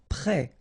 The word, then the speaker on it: prêt: Prêt. Final T not pronounced. E accent circonflexe like that phonetically gives you the E sound.